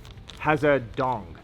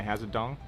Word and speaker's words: Hazedong: You don't need a pause in between the has.